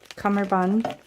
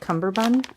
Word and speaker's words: cummerbund: I call it Cumberbund. I don't know. I've never realized that it's spelled without a B. Does that fascinate anyone else? I always thought it was Cumberbund. Maybe you can say it both ways.